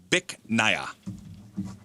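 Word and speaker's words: Bich Nga: It's pronounced Bic Naya. BICH space NGA.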